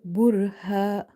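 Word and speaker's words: بُرْهَانَ: Here ra is heavy because there is a dhamma before it. And as we go forward, you will see the other situations under which ra is heavy. Then in the word burha, ha, we have stretched this ha with the alif because this alif is madda here.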